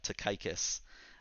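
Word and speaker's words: Tychicus: that is Steven Levin to gather the correct pronunciation of of Paul's follower here famous Takai kiss the dear brother and faithful servant and the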